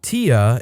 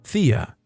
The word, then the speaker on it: Thea: her 4-year-old daughter by pronouncing her name as Tia instead of Thea, her name.